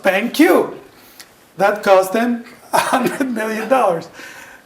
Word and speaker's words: BenQ: They changed their name from BenQ small q to big Q because people pronounced it bank. Okay? Because people pronounced it bank. And they wanted to be pronounced BenQ.